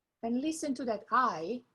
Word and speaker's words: hai: Quanti anni, years, hai. And listen to that I. There is no H in Italian. We don't pronounce the H, so it's just I.